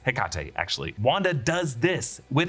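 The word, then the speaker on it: Hecate: meet the witch goddess heate or heate all different ways to pronounce it but it's heate actually Wanda does this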